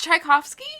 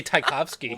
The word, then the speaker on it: Tchaikovsky: i'm just here to do spelled tch it's tchaikovsky uh-huh oh my gosh is it amy rant yes please pronounce it in traditional german um yeah and